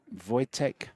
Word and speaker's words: Wojtek: How is it that you pronounce this gentleman's name again? Wojtek.